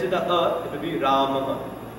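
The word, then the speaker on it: Rāmaḥ: Although it's written Rama with a visarga. The visarga kind of doubles the last vowel. Right? So if it ends with a it will be Ramaha.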